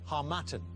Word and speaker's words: harmattan: Sahara so wind okay seem to know the pronunciation better than me as well the harmattan and it's the right answer well done -